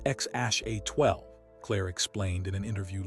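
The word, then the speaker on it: X Æ A-12: It's pronounced X Ash A12, Clare explained in an interview later, though even she and Elon sometimes pronounced it differently.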